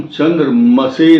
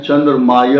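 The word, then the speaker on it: चन्द्रमसे: चंद्रमा का जो मंत्र है वो है ओम चंद्र मसे नमः जो कम ज्ञान रखते हैं वो बोलते हैं चंद्रमाय नमः ये नहीं बोलना चाहिए बिल्कुल भी क्योंकि संस्कृत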